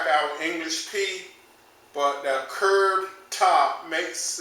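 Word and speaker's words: π: the Greek letter P we are used to calling this word pie in mathematics and algebra but the correct pronunciation is P as in the english word peach the next man in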